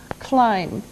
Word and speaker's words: climb: Climb. Now, it doesn't sound like it looks. Now, if this letter, B, is silent, climb.